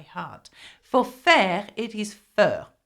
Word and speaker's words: fer: know this by heart for fair it is fur f e r okay so how do you